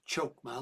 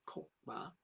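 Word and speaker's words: Chokmah: That seems to reference Kether, the first born back up to Kokma, not Chmama like it sounds, but or is written, but it's actually pronounced Kokma are the life, the heart and pulse of the universe.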